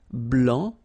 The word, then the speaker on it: blanc: so here here masculine BL don't pronounce the final C and then Blan okay